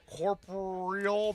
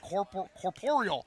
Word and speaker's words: corporeal: He's got Corporal. The I'm I'm never gonna corporeal. Corporeal. I said it right that time.